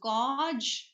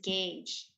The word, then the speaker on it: gauge: next is gauge okay uh usually this is mispronounced as gge okay but this is pronounced as guge okay